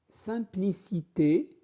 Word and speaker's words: simplicité: J'aime cette simplicité. Donc, j'aime cette IM se prononce un. Saint, saint. Simplicité.